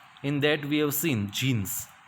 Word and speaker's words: Djinn: Even the clever Djinn, the pronunciation of this is jinn, right?